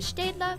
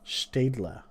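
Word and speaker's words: Staedtler: better pencil like the stedla mars lumograph huh one more time one more time oh they say like with a german accent yeah like hold on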